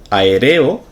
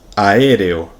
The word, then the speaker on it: aéreo: de que la palabra correcta es inauguración 43 aéreo aéreo lo he pronunciado en el primer caso de manera correcta